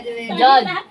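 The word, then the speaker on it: judge: जज हो जाएगा जज में जी से पहले होता है साइलेंट जी से पहले डी क्या रहता है साइलेंट पढ़ेंगे जजमेंट हो गया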